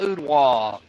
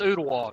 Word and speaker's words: Ottawa: Ray County, the East Hamilton Hurricanes, right there down by Ottawa, and that's how it's pronounced, Ottawa, not Ottawa, Ottawa.